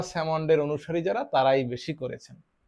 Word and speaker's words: Salmond: অনেকে উচ্চারণ স্যালমন্ড করেন, কিন্তু এটির গ্রহণযোগ্য উচ্চারণ হচ্ছে স্যামন্ড।